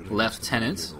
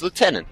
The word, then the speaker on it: lieutenant: never heard Lieutenant it's Lieutenant not with a F so that's really weird yeah well yeah the British pronounce it left tenant and Games Workshop is